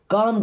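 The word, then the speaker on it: calm: आपने उनसे क्या कहा काम डाउन देखिए यहां पे एल होता है साइलेंट क्या होता है साइलेंट या तो के के पहले या एम के पहले अगर एल आएगा तो एल साइलेंट होता है उसको नहीं पढ़ा जाता लिखा जरूर हो जाता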